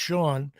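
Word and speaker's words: Shawon: We're going to pronounce it Shawan over here. So Sean Dunston, we're going to say Shawan. My buddy from LSU, Darryl Clark, says pronounced Sean.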